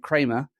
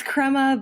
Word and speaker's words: Crema: she's currently working at Kramer did I say it right that time in Kansas City it's it's Kema but at least you didn't call it krer Labs it could be worse